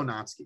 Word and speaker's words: Natsuki: here's the thing right you can either say it not sookie or natsuki right i just go natsuki right uh but if you're saying natsu it's still two syllables so just say natsuki right you know they're